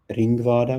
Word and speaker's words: Ringvaade: Google and add in Ringvada, which is spelt Ringvaade, Ringvada. Okay, Ringvada.